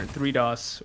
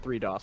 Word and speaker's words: 3DOS: I was thinking about it as a play on DDoS. Oh, yeah. So until someone tells me otherwise, I'll be pronouncing it 3DOS, because I like that.